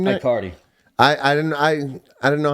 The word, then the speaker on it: Aicardi: Aicardi. I didn't know how to pronounce it. Aicardi? Aicardi.